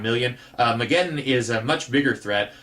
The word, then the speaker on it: Mageddon: I'm assuming it's pronounced Mageddon, as in Armageddon, and I got Mageddon confused with Solaris.